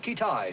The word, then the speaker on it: Keetage: Pronounced Kittai, sir.